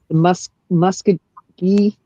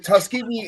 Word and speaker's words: Tuskegee: you got to with the Pentagon, like the Muskogee, is that's how it's pronounced? Airmen. That Tuskegee. story. It's Tuskegee.